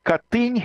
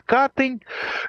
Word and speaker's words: Катынь: Ну вот вся та же проклятая Катынь, или как в Смоленске с польским ударением ее называют Катынь.